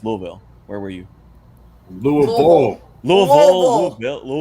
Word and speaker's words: Louisville: where were you louisville louisville two syllables louisville louisville sorry moon bowl got it a guy named lou last name vol louisville got it mr